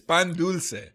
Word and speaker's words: dulce: it's the hard C with pan dulce, or the soft C with pan dulce. Dulce. That's pendeco or pendejo. I gotta get close to the mic for this one because this word is just not one you can say casually. It's definitely a loaded word. Hunt. No. Dulce. Dulce. So you can say it. It's pan dulce.